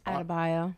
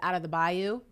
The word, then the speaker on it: Adebayo: Yeah, or if you want to be Kendrick Perkins, out of the bayou.